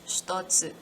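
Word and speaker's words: 一つ: Its onyomi is ichi and its kunyomi is shitotsu. It is written as hitotsu, but it is pronounced as shitotsu.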